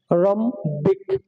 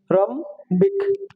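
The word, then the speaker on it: rhombic: এরপর আছে আর এইচ ও এম বি আই সি, রমবিক, রমবিক। তার মানে কি এখানে এইচ এর কোনো উচ্চারণ হবে না, ঠিক আছে।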